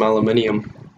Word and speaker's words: aluminium: Isn't that how some people pronounce it? Aluminium? Yeah. That's how Vic Star pronounces it, but I'm pretty sure it's aluminum. I think it just depends on where you're from.